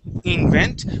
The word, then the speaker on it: invent: invent okay first off that I is going to be a short I sound so instead of using the the Spanish I and saying in invent we want to use a short eye sound and say in invent try that please in